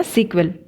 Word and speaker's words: SQL: एगुड़ाक सेटा है आमर स्ट्रक्चर क्वेरी लैंग्वेज SQL बा आपको आम प्रोनाउंस करवा सिक्वेल.